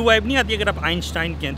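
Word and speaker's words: Einstein: तो आइंस्टाइन की असल प्रोनाउंसिएशन जो है वो आइंस्टाइन आप कह रहे हैं, आइंस्टाइन है, और ये दो लफ्ज़ हैं। आइन का मतलब एक होता है और स्टाइन का मतलब होता है स्टोन।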